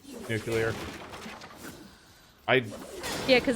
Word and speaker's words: nuclear: elementary school every Long's doing the whole like nucular yeah well those to make fun of Bush cuz that's how you pronounce nuclear I'd yeah cuz it's mute yet their way